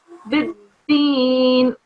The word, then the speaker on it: بالدين: Have a bit more emphasis on the dal sound. Try again. Okay. What is the emphasis called as well? So because the dal is carrying a shadda, you have to wait on the dal a bit and then carry on with your words.